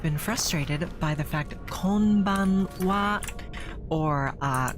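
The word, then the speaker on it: こんばんは: frustrated by the fact kban or uh good evening in Japanese is spelled Konan regardless of being pronounced kban uh it's called Pokemon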